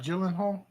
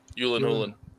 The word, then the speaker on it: Gyllenhaal: And not Gyllenhaal. Yulan Hulen. Yulen Hulen. They're Swiss. They're Swiss. Yeah. Yulan Hulen.